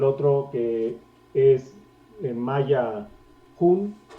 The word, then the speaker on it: hun: Tenemos el otro que es en maya hun, o sea, sabemos que como que el maya se pronuncia con una J suave.